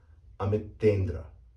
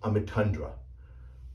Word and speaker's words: Amitendra: And this name is correctly pronounced Amitendra. Now, I've actually heard this name pronounced Amitundra, which is not correct at all, because this is clearly not a U, this is an E.